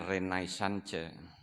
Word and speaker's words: Renaissance: Tulisannya Renaissance. Bacanya dalam logat Perancis Renaissance.